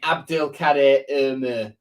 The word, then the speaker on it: Abdülkadir: to Abdul khader now that is how you say it by the way Turkish Turkish way of saying it abdil K like you're saying no in a really sort of Str like saying oh no in a really stron